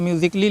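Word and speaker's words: musically: सी A double L वाई म्यूजिकली ठीक है म्यूजिकली लिखा लिखा है ए के बाद डबल एलवाई आया है तो ए क्या है साइलेंट है इसको म्यूजिकली या म्यूजिकली या आप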